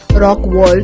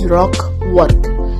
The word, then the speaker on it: Rockwork: Okay, some people misspelled it mispronounce it by saying Rock World. It is not actually Rock World, it is Rockwork, and it is a garden, or more often